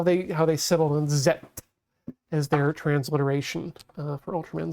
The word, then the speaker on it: Z: year, have had to add bracket or quotation ZETT to make sure that people understand that this is not the American pronunciation.